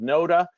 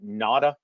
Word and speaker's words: Noda: It's called Noda. Some people pronounce it Nada, but I'll show you